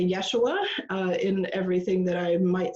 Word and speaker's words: Yeshua: was Aramaic and so that pronunciation in Aramaic is called Yeshua so Yeshua taught his disciples first